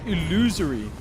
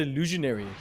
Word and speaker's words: illusory: How do you say that? Illusory. What? Illusory. Illusory. I thought it was always the illusionary.